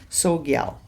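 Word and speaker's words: Tsogyal: You don't pronounce the T. Sogyal.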